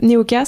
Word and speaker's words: Neoka: Qu'est-ce qui t'a donné envie justement de créer euh Neoka ? Ça se prononce bien comme ça.